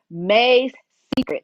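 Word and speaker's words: Mae's Secret: May's Secret.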